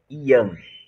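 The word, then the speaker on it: Yang: Young mas em em mandarim hoje do final não se pronuncia então o correto é Ian oi oi Ana representado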